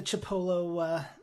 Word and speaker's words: Chipolo: It's the Chipolo thing, not Tripolo.